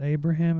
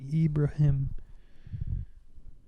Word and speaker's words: Ibrahim: Yeah, it's not Abraham. It's like Ibrahim. Let's see how you pronounce that. Mm-hmm. Mm-hmm. So like Abraham, but with an I.